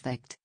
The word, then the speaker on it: Vacth: Vas the name pronounced vict comes from the Lorraine